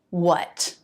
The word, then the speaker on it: what: And the last word for this video, number 40, what. This word can reduce. Fully pronounced, it's what. And the T is a flap T if the next word begins with a vowel or diphthong.